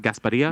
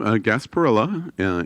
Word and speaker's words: Gasparilla: the gas berea pirate Bureau sarsaparilla it's not pronounced gas Padilla no Gasparilla in Tampa they're not I wrote you're not